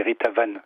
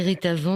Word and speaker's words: Ritavan: Ça s'écrit « Ritavan », mais ça se prononce en sanscrit, parce que c'est un nom indien, hindou.